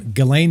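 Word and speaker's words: Ghislaine: jiz Lane no it's it's it's galain it's the S is silence galain Maxwell is how you say it yeah yeah apparently it's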